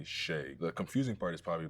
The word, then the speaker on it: Shai: I know some people say shy. It's It's definitely Sheay.